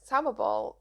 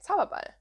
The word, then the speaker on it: Zauberball: In here I cast on one of my Zauberball skeins. Why am I pronouncing it the English way? Zauberball.